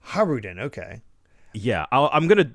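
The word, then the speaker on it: Hajrudin: probably uh so I I think the J is silent I I'm gonna check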